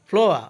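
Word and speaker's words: flower: ফ্লোয়া অর্থ ফুল, এখানে ফ্লোয়ার না বলে এটাকে বলবো ফ্লোয়া অর্থ ফুল।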